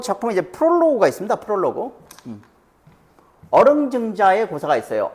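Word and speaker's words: 於陵仲子: 어릉증자의 고사가 있어요. 어릉증자 혹은 오릉증자라고 읽어야 맞는다고 하는 사람도 있더라고. 이게 원래 어조사 어자인데 이렇게 쓸 때는 오릉이라고 읽는 게 더 맞다는 사람도 있더라고요.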